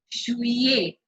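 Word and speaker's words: juillet: Jewell next one also the pronunciation is difficult Shoei a shoo-ee he shoo-ee means july you don't announce that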